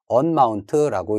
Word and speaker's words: umount: 그 다음에 이 마운트를 해제하는 명령으로서는 unmount라고 읽지만 실제 명령어는 UMOUNT인 umount라고 입력을 해 주셔야 되겠습니다.